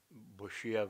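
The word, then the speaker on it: boccia: do everything for curling, Boshia, that's the way you pronounce it, and other things, and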